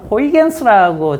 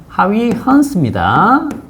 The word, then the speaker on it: 하위헌스: 가장 같은 마루를 이은 선이다라고 치면 자 그러면 여기에서 어 우리 책에는 호이겐스라고 적혀 있죠. 그죠? 어 하이 하위헌스입니다.